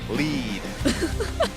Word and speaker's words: Lead: Lead. Like need, but there's an L there.